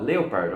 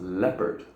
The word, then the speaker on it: leopard: I mean, when you read it first time, maybe you might think, oh, leopard, of course. No, it's actually pronounced leopard.